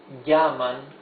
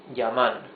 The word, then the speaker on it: llaman: Here it is not llaman, it is llaman.